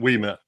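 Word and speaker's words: Ouimet: Umet? Is that how you say her name? We met.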